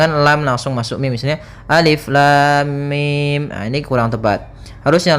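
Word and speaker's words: الم: Maka cara yang benar membacanya adalah seperti ini, alif lam mim. Panjangkan dulu lamnya. Kita ulang kembali, alif lam mim.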